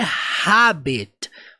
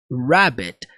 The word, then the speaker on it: rabbit: a Pops fala Rabbit temos um erro aqui na questão da pronúncia porque a pronúncia não necessariamente é rabet mas rabet rabet todas as palavras que se iniciam com R no inglês nós sempre vamos pronunciar com R lá para dentro então rabet rabet ah